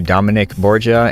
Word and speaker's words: Dominick Borgia: I finally get to sit down and interview Dominic Borja and did I say it right yeah you